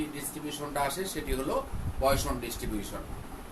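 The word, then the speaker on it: Poisson: Binomial distribution এবং binomial ডিস্ট্রিবিউশনের পরেই যে ডিস্ট্রিবিউশনটা আসে সেটি হলো পয়সন ডিস্ট্রিবিউশন। তো এটি 1837 খ্রিস্টাব্দে ড্যানিশ পয়স, উচ্চারণটা হচ্ছে পয়সন ইংরেজিতে, কিন্তু আমরা বাংলায় উচ্চারণ করি তাহলে হচ্ছে পয়স।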